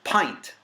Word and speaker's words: pint: it makes no sense Flint went hint print splint sprint and even the word tint all say it right and then but it's pint with the long eye that's at that diacritical mark that means it's a long eye you know so pint